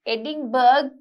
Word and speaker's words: Edinburgh: Edinburgh කියවලා තිබ්බට අපි ඒක pronounce කරන්නේ Edinburgh.